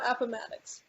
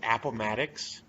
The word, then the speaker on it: Appomattox: shin hopple i got appomattox should be though it should be that is not how you pronounce that appomattox i'm going with appomattox you you know it's